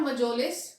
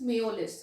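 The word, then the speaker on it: Mjolis: This is not Majolis, this is Meolis. Okay, it is pronounced as Meolis.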